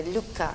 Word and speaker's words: Luca: Donc, peut-être je devrais prononcer à la française, c'est Luca, c'est Gerasim Luca.